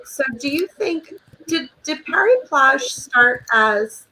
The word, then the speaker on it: Paris Plage: it happened to be Paris Plage. Is that how you say it? Oh yeah, yes, where they have the banks of the Seine as the beach.